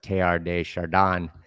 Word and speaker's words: Teilhard de Chardin: So the absolute is the story of the becoming of Brahman, and the philosopher Teilhard de Chardin, I think the French pronounce it Teilhard de Chardin, if I'm being fancy.